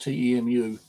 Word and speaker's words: Temu: ordered some stuff off can you link is pronounced to EMU uh nearly two weeks ago um and I